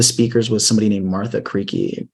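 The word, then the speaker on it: Karejci: was somebody named Martha creaky I think that's how pronounced it's like k a r e j c i I think one of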